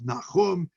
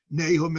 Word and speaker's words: Nahum: the pacer on the book of nachum nahum as we pronounce it in english but these texts are